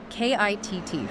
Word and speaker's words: KITT: KITT from Knight Rider. That's KITT, which we'll pronounce KIT, by the way.